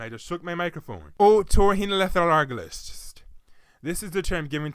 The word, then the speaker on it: otorhinolaryngologist: Well, aside from the silent H and the irregular use of the consonant Y, the word has 21 letters and 8, yes, count them, 8 syllables.